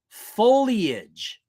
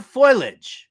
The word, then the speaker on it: foliage: name already number four it's pronounced foliage not foilage I don't know who